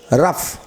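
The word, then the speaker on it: rough: যেমন আর ও ইউ জিএইচ, রাফ। দেখো এফ নেই, কিন্তু জিএইচ এর উচ্চারণ ফ হয়ে যাচ্ছে, রাফ, এনাফ।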